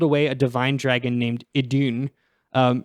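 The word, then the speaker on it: Idunn: a Divine Dragon named idun um it's literally spelled like i-d-u-n-n like I done um the ancient dragons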